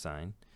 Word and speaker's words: sin: sign is right here it looks like sin but it's pronounced sign and because we don't